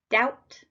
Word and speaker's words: doubt: w knowledge silent k doubt silent B chemist silent h which